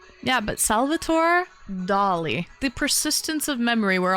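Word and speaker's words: Dalí: Um, so yeah, it's pronounced Dolly cuz he is Spanish.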